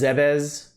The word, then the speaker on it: Zebes: Pronounced Zebes, Zebes, Zebeses, Zebes, Zebes, Zebes.